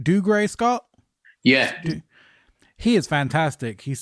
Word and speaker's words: Dougray Scott: Am I pronouncing right? Dougray Scott?